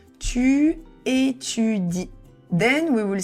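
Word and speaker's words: étudies: e s but the s is silence so you cannot say for example tu éudes or something like that we will just say tu etud then we will say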